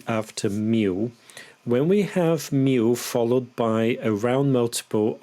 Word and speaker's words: mil: some pronunciation tips here that l in me it doesn't have a strong l sound that L actually has an o sound so it's not M it's me me now in the following